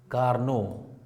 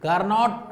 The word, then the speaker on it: Carnot: कार्नोट उससे पढ़ा जाता है, लेकिन एक्चुअली इनका नाम है कार्नो। टी साइलेंट है, लेकिन इंडियनाइजेशन ऑफ इंग्लिश, हाँ, reads is इट एज कार्नोट।